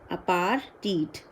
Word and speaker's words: apartheid: Again, note the pronunciation here. It is apartheid for the same reason, I believe.